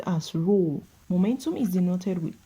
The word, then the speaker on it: rho: Density is denoted with a Greek letter pronounced as rho.